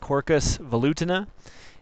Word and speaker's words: Quercus velutina: Black Oak the scientific name is pronounced corcus volutin it's a member of the Fier family or